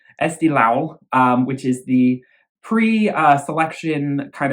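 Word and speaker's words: Eesti Laul: try and remember to pronounce Estee Lao like low not lol SD Lau which is the pre-selection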